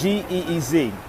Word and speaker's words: Ge'ez: It's G-E-E-Z. I'm going to spell it for y'all again.